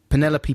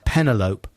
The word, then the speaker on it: Penelope: for 14 years two penelope pussycat from looney tunes always pronounced as pentelope that's good yeah this is hard to spell phonetically so you just pronounce it the same as envelope do you think i